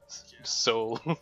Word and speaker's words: WSOL: WSOL. They sound like Soul Dynasty. The way we're pronouncing it. Soul.